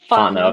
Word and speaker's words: Fontenot: And you know, I remember when we put in at below Berwick at the Jesse Fontenot, or how do you pronounce it one more time? Fontenot.